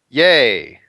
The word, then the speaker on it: Yeah: say your last name yay yay so just like yay points which i think when